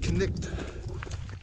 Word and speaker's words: Cnicht: know what it means, but Cnicht is how most seem to pronounce it.